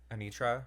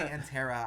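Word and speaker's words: Anetra: you say her name Anitra Anitra I keep wanting to say anterra I know literally traffic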